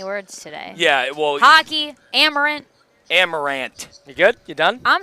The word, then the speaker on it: Amerant: Hockey, Amerant.